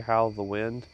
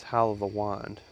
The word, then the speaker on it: Hal O' The Wynd: So today we'll be reviewing Rattray's Hal O The Wynd, or Wynd. I've always heard the two different distinct titles. I think if you're an American, it's easier to say Hal O The Wynd.